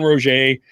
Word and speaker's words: Roget: Roget.